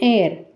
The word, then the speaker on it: heir: guest an honest man an heir in all these words the first letter is h and this h is silent the next letter is